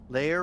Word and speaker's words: layer: Layer rhymes with hair and rare in my accent.